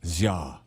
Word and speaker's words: SZA: So, we pronounce her name SZA. Oh, Ja. What? Ja.